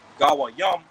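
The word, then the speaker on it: גויים: They look at the average person throughout the earth as goyim. Okay, which the proper Hebrew word for goyim is really gawayam. Okay, that's how you pronounce Gentile in the Hebrew, gawayam, which goes into, okay,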